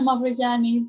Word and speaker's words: Mavrogianni: It's Mavrogianni, but you can pronounce it Mavrogianni because that's how it's spelled.